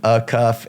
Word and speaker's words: Acuff: A cuff.